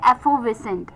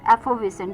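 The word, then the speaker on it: effervescent: जो 10थ वर्ड है श्याम का वो है एफोविसेंट एफोविसेंट ये भी एक इंटरेस्टिंग वर्ड है जिसकी बात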